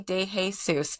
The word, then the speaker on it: de Jesus: it right because my name is now de Jesus.